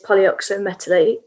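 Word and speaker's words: polyoxometalate: So the way to pronounce that word is polyoxometallate. And these, if you break down the word, poly, multiple, oxo, oxygen containing, metallate, metal containing.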